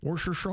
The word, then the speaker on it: Worcestershire: Worce- Worcestershire.